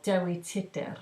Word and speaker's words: Dewi Tudor: By an artist called Dewi Tudor, well, Dewi Tudor is how you say it.